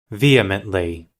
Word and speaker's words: vehemently: That always trips me up. Vehemently. Is that what it is? vehemently. That's what it was. Yeah. It's one of those don't pronounce this letter that we're going to include in there.